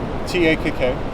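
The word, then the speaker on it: takk: double P, double T, you pronounce it basically like English, but there's a breath of air before you say it. So to say thank you, T-A-K-K. Yeah. Same in Norwegian, for example. And in Norwegian it's tak, and Icelandic it's tak. Breathe, like It's like you say an H, like you're going to start another syllable Okay. that starts with H.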